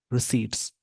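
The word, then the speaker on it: receipts: results पिव season GST रिट्स इसको रिसीप्ट नहीं पढ़ेंगे पी साइलेंट है यहां पर प्रोनंसिएशन में पी साइलेंट होता है तो रिट बोलेंगे होल्ड जीएसटी रिसी होल्ड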